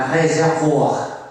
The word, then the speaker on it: réservoir: Okay, a réservoir actually in French, and then English people borrowed this word and then they pronounce it in a very weird way, reservoir. in French, a réservoir.